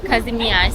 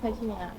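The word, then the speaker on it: Kazimierz: Şu anda Kazimier diye yazıyor. Burada ZJ diye okunuyor.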